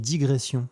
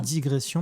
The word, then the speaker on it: digression: en clarté de gamme je crois qu'on dit digression beaucoup de gens disent digression mais le S ne se prononce pas voilà je peux au